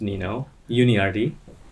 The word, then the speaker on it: Nino Yuniardi: i live in seattle my name is nino uni rd uh that's how i pronounce it yeah um yeah and